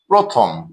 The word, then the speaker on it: প্রথম: প্রথম প্রথম শব্দটিতে আমরা দেখছি প এর সাথে র ফালা আছে এবং অকার আছে। অর্থাৎ এই অকারটি ও রূপে উচ্চারিত হবে। প্রথম প্রথম।